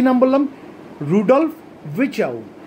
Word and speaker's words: Virchow: Rudolph ভিচাউ, Rudolph RUDOLF ভিচাউ VIRCHOW, এই আটটা pronounce হবে না, ভিচাউ।